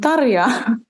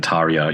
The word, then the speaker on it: Tarja: Yeah, and apologies for my Australian accent saying Tarja. It's Tarja. I don't think you taught me how to say it last time, but difficult.